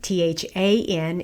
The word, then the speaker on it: than: Than Than, than, okay, lips kind of tensed into a smile, and you lower your jaw, it's a low front vowel, than, then.